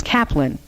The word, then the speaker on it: Kaplan: They pronounced it Capelin. My grandparents' name was Kaplan, Kaplan.